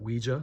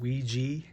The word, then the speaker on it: Ouija: some people pronounce it Ouija like me but some people pronounce it Ouiji I guess that's the the proper pronunciation here's a um like